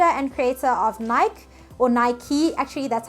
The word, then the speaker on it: Nike: If you guys don't know who Phil Knight is, he is the founder and creator of Nike, or Nike, actually that's how it's pronounced, I found out.